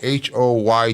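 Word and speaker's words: Hoyt: Well, you go H O Y T. That's phonetically. It is pronounced Hoy.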